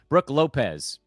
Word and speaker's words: Brook Lopez: Brook Lopez. That's how you say his name. Not Brook.